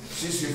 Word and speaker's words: tsetse: तो ये अब ये लफज़किसी है तो हम टी साइलेंट है यहां भी टी साइलेंट है सीसी फ्लाई इसका नाम है इस